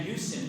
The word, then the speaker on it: Houston: this up is that they kept saying Houston Houston I I come to people's office and poke my head in and go it's h and they say why is it h I said listen we were Incorporated 50 years before um Houston Texas was and you don't live in a hou you live in a house so for that matter